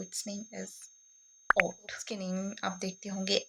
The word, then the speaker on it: Hautee: सो it's name is ओट।